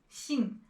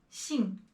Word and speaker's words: 信: 信, 金. And when you are pronouncing both of these characters, do not roll your tongue. 信, 金. Just keep your tongue flat and relaxed there.